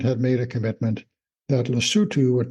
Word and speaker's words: Lesotho: l s o t h o it is pronounced lutu and is named for the original and still